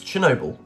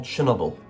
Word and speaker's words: Chernobyl: The answer is Chernobyl, or Chernobyl, depending on your pronunciation.